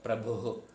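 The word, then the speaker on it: പ്രഭുഃ: ഭയ ഭൂത ഭവ്യ ഭവത് പ്രഭു ആകരുത് ഭൂത ഭവ്യ ഭവത് പ്രഭുഹു ഭൂത ഭവ്യ ഭവത് പ്രഭുഹു ഭൂതകൃത് ഭൂതഭൃത്ഭാവോ ഭൂതാത്മ ഭൂത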